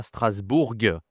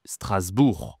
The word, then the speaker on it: Strasbourg: Attention, tu vois bien ici que Strasbourg, on ne dit pas Strasbourg, on dit Strasbourg. Je ne prononce pas le G à la fin du mot.